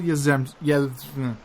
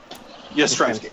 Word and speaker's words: Yastrzemski: Bob Gibson, and Carl Yastrzemski. Yastrzemski. Yes, it's Yastrzemski. Yes. That's not how you say his name, Brendan.